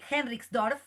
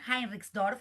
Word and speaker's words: Heinrichsdorf: Entonces, nuestro próximo invitado es Kai Henriksdorf, ahí lo pronuncié bien, Heinrichsdorf, para hacer mejor la pronunciación alemana.